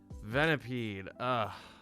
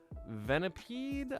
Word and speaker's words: Venipede: Venipede.